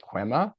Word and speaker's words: Kwema: that I'm not sure if I'm going to pronounce it correctly but it's is it quema yeah that is correct all right perfect and